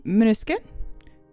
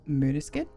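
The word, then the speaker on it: Måneskin: that entirely right but the a with a um with that little circle above it I believe if from what my family has sto me um I believe believe is pronounced like a uh sound um so it's mudis kid um sleep token my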